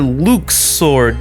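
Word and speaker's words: Luxord: Port Royal we encounter Luke's sword yeah that's actually how you say his name they never actually say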